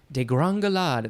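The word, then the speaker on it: degringolade: word gringo is in the middle of that de Gran galad there's an accent on the first e which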